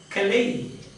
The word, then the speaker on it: Calais: See the name of a pot, and the Frenchman will pronounce it as Calais.